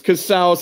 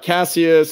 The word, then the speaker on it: Casaus: It's Casaus. It's not Casaus. It's not Cassius. It's not Martinez. It rhymes with house, like you're in the house of Casaus, y'all.